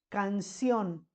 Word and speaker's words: canción: a dar un ejemplo canción canción en la última sílaba le vamos a poner acento en lado porque suena fuerte esa palabra canción también